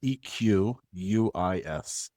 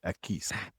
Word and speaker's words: Equis: I call it Equis. Now, it's spelled EQ uis, but you corrected me before we started that it's not Equis. It is eis.